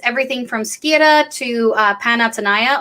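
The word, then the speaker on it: Panathenaia: from skira to uh panatsunaya also known and also known as panathenia for people who don't know how to pronounce greek um which was the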